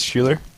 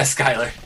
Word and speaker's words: Schuler: And this is Schuler. Yeah, Skyler. Skyler, sorry. It's spelled Schuler. He gets that a lot.